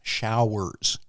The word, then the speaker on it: showers: He says, you're not enunciating this word. It's showers, 2 syllables.